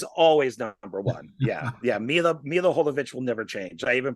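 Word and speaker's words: Milla Jovovich: Mila Jovovich will never change. I even pronounced her name correctly.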